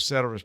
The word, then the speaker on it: ceteris: economist, I know that you know the Latin term ceteris paribus. Did I pronounce that correctly? Give or take, yep. For my East Texas Some people put a hard C on there.